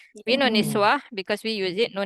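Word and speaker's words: نسوة: And then Niswi, is it? Not Niswi. Not Close. Niswi. Oh. Nis. Nun what? Nis- What do we call nun? Niswa, I is it? got Yes, Nun. Niswa.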